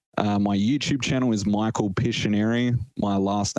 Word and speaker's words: Pisciuneri: We're going to say it rhymes with visionary. How's that? That is, you're correct. Visionary, Pisciuneri.